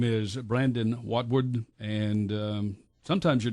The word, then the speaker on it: Watwood: the Northwest Correctional Complex his name is Brandon watwood and um sometimes your name gets a little bit kind of Muddy doesn't it watwood or watwood how would you it's watwood it's never pronounced correctly so I'm used to it by